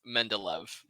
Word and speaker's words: Mendeleev: But in normal English, when I was taught it is Mendeleev.